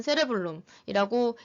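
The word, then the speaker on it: cerebrum: 대뇌를 보겠는데 대뇌는 세레블룸이라고 읽습니다.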